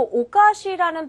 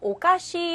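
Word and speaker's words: お菓子: 자, 근데 주의하실 것은 요 오카시라는 발음 뒤에다가요. 이를 붙여서 오카시 하면은 이상하다라는 의미로 바뀌어버립니다. 그래서 주의해서 발음하셔야 돼요. 짧게 하셔야죠. 선생님! 얼굴 오카시! 이렇게 화내게 되는 겁니다. 그렇죠? 오카시 줄게요. 이럴 때는 아, 嬉しい. 그렇죠. 이렇게 기뻐하십니다. 그래서 오카시와 오카시 발음 주의하셔야겠죠.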